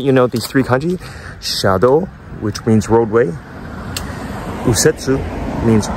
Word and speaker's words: 車道: Shadow when you combine those two kanji it's pronounced Shadow which means roadway you're going to hear that in the news a lot Shadow okay and the other two words that you